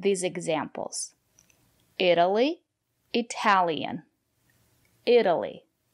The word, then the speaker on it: Italy: examples Italy it Italian Italy the syllable after the letter T is not stressed we pronounce the letter t as a fast D Italy I've never been